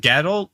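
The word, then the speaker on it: Gadolt: wait say gaddle again oh is it gadol i thought it was good though i misremembered the spelling of his name i i thought it was spelled like g-o-d-o-t which ghetto is that how it's pronounced yeah coffee man yeah it's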